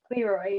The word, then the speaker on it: Leroy: She is a former co-director of the Fusion Film Festival and is currently working at, is it pronounced Leroy? Leroy, yeah.